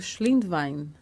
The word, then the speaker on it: Schlindwein: Schlindwein é origem alemã, Wein é vinho, e Schlind no dialeto aí do Reno, onde saíram os antepassados no século passado, retrasado agora, significa comerciante, degustador de vinho.